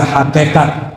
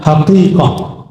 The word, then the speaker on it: hakikat: Bahasa orang kita hakikat sebenarnya bacanya hakikah.